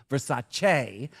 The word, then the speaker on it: Versace: Your schedule is tighter than a Versace. Not Versace. Versace booier and your standards are higher than your heels. See, I know we've been saying it wrong for years. It's Versace. Uh, you're not Donatella would